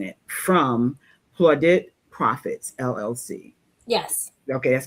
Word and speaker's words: Plaudit Profits: And Valerie, you let me know if I am saying your business incorrectly, pronouncing it, from Plaudit Profits, LLC.